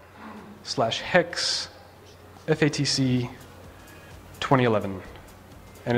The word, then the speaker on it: haXe: in there called syntax although I should call it sintex because i pronounce it hex and as alan pointed